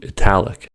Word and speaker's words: italic: Compare Italy to italic. Italy has the stress on the first syllable, so the T is flapped, but in italic, T is not flapped since it begins the stressed syllable.